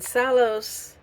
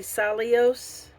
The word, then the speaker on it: Sallos: And then Sallos is, one moment, it's actually Sallios, and inspires the love of women and men.